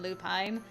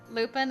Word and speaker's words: Lupin: either way i mean you could pronounce john lupin as john lupine but i listened to the voice acting when someone addressed him as john lupin and they say lupin they don't say lupine so i guess that's